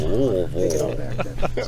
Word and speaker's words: Louisville: Oh, my mother-in-law is from Tennessee, and she goes, "You got to say it like you got marbles in your mouth." It's Louisville. Louisville.